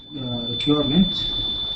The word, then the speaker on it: requirement: It is requirement. Requirement. Requirement. Instead of let's keep your tongue down, touching the bottom of your mouth.